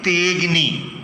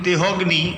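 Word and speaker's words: তেঽগ্নি: তেগ্নি মানে তেটা দীর্ঘ উচ্চারণ হবে, একাট হচ্ছে দীর্ঘ। তেগ্নির নচিকেত, এটাই প্রমাণ করবে যে ওখানে একটি আকার রয়েছে, লুপ্ত আকার। সেই কারণের জন্য ওটা হ নয়। অনেকে তেহগ্নি, একেবারেই ভুল, এটা তেহগ্নি না, তে অগ্নি, থেগ্রি।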